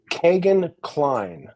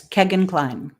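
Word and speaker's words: Kegan Kline: H the second guy uh who emerges is Kagan kleene did I pronounce his name correctly yes Kegan Klein so give us a a little uh rundown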